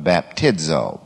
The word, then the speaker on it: baptizo: The etymology of baptizo, B-A-P-T-I-D-Z-O. You would pronounce it, of course, B-A-P, then T-E-E-D, and then Z-O, baptizo.